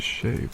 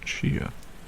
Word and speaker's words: shea: I recently discovered that the proper word or proper way to pronounce shea butter is sheay butter not Shia so I'll certainly try